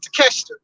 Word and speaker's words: Takeshita: I'm sorry, I said his name wrong. Takeshita.